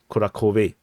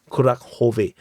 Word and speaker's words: Kurakhove: the retreat route from Kurakove. Some people, I saw a comment, they said that this is not pronounced as Kurakove, it's pronounced as Kurakhove.